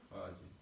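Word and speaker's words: خواجه: 2 7 nota geçiyoruz Farsça bazı kelimelerde ha harfinden sonra vav harfi yazılır fakat okunmaz mesela Orada ne yazıyor havace gibi yazıyor Görüyor musunuz ha havace ama nasıl okunur Hace Hace bir şey çekmesi gibi Evet Hace Hoca demektir Tamam Hace havace yazılır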